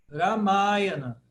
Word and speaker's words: Ramayana: Ramayana. Ramayana. Por quê? Porque o Ma é a primeira longa, de trás para frente.